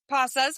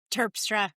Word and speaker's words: Terpstra: My guest today, Michelle Pas, did I say that right? I butchered it. Michelle, what is it? Turpra, I'm so sorry.